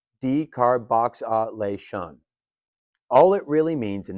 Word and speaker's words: decarboxylation: Now, we get to one of those intimidating-looking cannabis words that is actually pretty simple, decarboxylation, pronounced decar-box-a-lation.